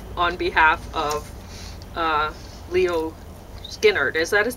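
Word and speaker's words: Szilárd: behalf of uh Leo Skynyrd is that his name how do you say it how do you say that well it's spelled S Zed i-l-a-r-d in Hungarian you said sillard okay S Zed kind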